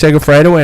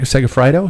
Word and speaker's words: Segafredo: the tour of woloni is that how you pronounce it baloney maloney uh finished up last week with trex sega fredo and frank segafreido segafredo and american quinn simmons taking the overall